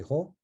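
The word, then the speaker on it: ϩⲟ: Like the word for face is actually emphatic H and R. So khar in Egyptological pronunciation. In Coptic, we say ho.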